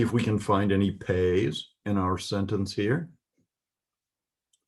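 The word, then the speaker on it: פ: So this is a final form of pay. It's pronounced P as in pastor.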